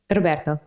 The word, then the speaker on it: Roberto: But normally when my English native speaker students try to pronounce the final O of a word, normally the O lasts longer than it normally does.